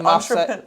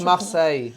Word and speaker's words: Marseille: Like Marseille. Like Marseille. Marseille.